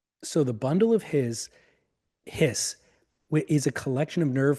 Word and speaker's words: His: nerves and they are called the bundle of hiss is how it's pronounced but it's spelled hi importantly for your